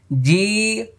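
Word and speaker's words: جيم: angle দিয়ে practice করুন জিম যদি দাঁতের সঙ্গে দাঁত লেগে যায় তাহলে কিন্তু মানে আরেকটি হরফ হয়ে যাবে দেখেন জিম জিম তাইলে যা হয়ে যাবে মারাত্মক ভুল হবে এজন্য দাঁত ফাঁকা রাখতে হবে জি দেখছেন জিহ্বার মধ্যখানে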